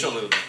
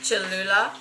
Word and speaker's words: Cholula: Cholula. Cholula Yeah.